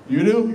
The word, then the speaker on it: UDU: It's UDU. UDU? UDU. He said it right in the video. It's UDU. Like, you do it.